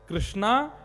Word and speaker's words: कृष्ण: सुबह कीर्तन करेंगे तो कैसे करते हैं, हरे कृष्णा हरे कृष्णा। अब वो बोलते तो कृष्ण ही है, लेकिन बंगालियों के मुख से अकार बोल ही जाता है।